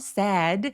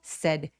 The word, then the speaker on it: said: sad 아니고 said 턱 거의 벌리지 않고 빠르게 said 해주세요.